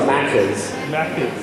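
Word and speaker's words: Maccas: No, it's Mackers. McDonald's is Mackers, not Mackers. Mackers. So the Americans do that with everything. You put R's at the end of it.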